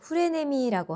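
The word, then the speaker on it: フレネミー: 일본어 발음으로는 후레네미라고 하는데 저는이 말을 아이한테 들어서 처음 알았습니다.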